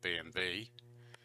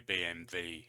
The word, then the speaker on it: BMW: every night BMW B because the W in German to V so they probably call it BMV now we're always taught